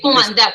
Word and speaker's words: Cumandá: Mi segundo nombre es Cumandá. Cumandá, con tilde en la última.